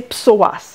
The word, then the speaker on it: psoas: On l'appelle fléchisseur de hanche, mais son nom aussi un petit peu plus scientifique, c'est psoas. Alors, comment ça s'écrit?